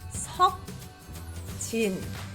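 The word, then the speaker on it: Seokjin: In Korean, it would be pronounced as Sok Jin. Notice how soft the S and the G on the bottom and the J and the N were. You can barely hear them, right?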